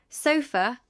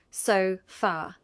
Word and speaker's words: sofa: Say, sofa with a weak last syllable, not so far.